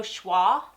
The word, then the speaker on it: Choix: It is French.